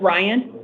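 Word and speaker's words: Rayen: Your first name is pronounced Ryan? Yes, ma'am.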